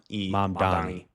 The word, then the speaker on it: Mamdani: So like, hi, Mom. Mom. Don. Don. E. Mamdani. Mamdani. Yeah.